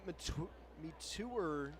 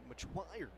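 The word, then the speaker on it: Metoyer: Getting Brian Metour loose out in the bullpen. Or as I should say in the pronunciation guide, Machuire.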